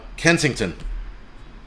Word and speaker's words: Kensington: No, saying it wrong. Yeah, Jeep Girl, yeah, what's his name just corrected me. Oops, just corrected me. He said it's Kensington, right?